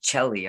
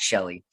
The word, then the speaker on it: Shelly: I always want to say Chelly. I'm so sorry, but I know it's pronounced Shelly.